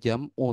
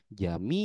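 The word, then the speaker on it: جميع: ulangi kalau ada ya-nya tidak mungkin dibaca jam'u tapi dibaca jami. Jami. Kalau nggak Jami. percaya, lihat di kamus. Tuh, ketik jim min ya ain ya bacanya jami bukan jam'u.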